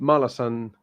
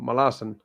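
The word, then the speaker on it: Malazan: read I think because like I may read malasan or malasan as it's actually pronounced next year but I don't want to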